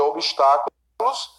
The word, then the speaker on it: obstáculo: A tonicidade do segundo termo sublinhado do item 2, que é obstáculos, recai na penúltima sílaba. Falso. Olha, obstáculo, sílaba tônica é a antepenúltima, certo?